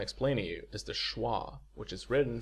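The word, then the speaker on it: schwa: found abundantly in English basically if you relax your entire mouth and make a noise that's awah uh most people will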